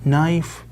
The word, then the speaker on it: knife: tries to make her k is silent nice yes knife flash and cut as